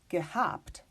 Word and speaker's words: gehabt: Well, in that case, for instance, a word like gehabt, I will still pronounce this H because the word here is habt with the prefix ge.